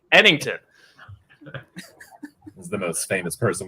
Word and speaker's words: Ennington: Ennington.